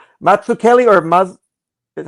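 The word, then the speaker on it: Mazzucchelli: No, it's it's the double C with an H would be Kelly. It's a hard C.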